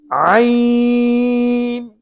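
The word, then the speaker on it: ع: Not everybody can pronounce this correctly, because they end up pronouncing the Hamza or the Alif.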